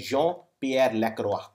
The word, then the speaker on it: Jean-Pierre Lacroix: This is pronounced as Jean-Pierre Lacroix.